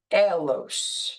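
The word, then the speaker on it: ἄγγελος: And or angelos would probably be the best way to pronounce it, but it's from angelo.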